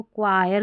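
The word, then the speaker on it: choir: इसको चयर करके नहीं पढ़ते। इसको क्वायर करके पढ़ते हैं।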